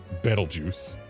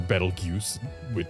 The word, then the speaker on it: Betelgeuse: And, like, the name is based on the star Betelgeuse, or Betelgeuse. It's pronounced either way depending on where you're from.